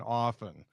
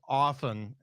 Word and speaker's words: often: than me when they started pronouncing the T and often like Hey Dad how often are you going to hit us up for money in my house it's often with no tea and I only hit